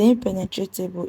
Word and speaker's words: impenetrable: The impenetrable is stressed on NE.